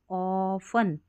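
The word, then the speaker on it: often: next देखें, families, परिवार जो होते हैं, फैमिलीज, ऑफन, ऑफन और T साइलेंट है, ऑफन यानी कि अक्सर,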